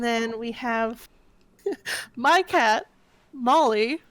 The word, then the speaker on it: Maulie: And then we have my cat, Molly, whose name is spelled Maulie because she has very sharp claws. Uh, Oh, Morley.